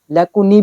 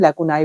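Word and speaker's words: lacunae: पे देखो आपके सामने लेगुनाई लेकुनी भी बोलते हैं इसको। लेकुने भी बोल देते हैं। लेकुनाई भी बोल देते हैं। ठीक है? प्रोनाउंसिएशन तीनों तरह से की जाती है।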